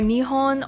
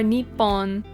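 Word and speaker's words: 日本: This can be pronounced as either Nihon or Nippon.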